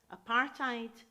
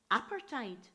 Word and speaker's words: apartheid: and white anti-apartheid banners which some pronounced apartheid and others pronounced apartheid and much later in